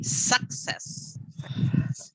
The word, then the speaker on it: success: success and just success it's like here you got an x success like sex yeah because otherwise you kind of pronounce with so many s so you say success like succeed okay gabriel imagine imagine